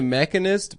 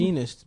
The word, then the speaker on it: Machinist: He made the Mechanist before he did Batman. Is that how you Begins. pronounce it? Machinist, bitch.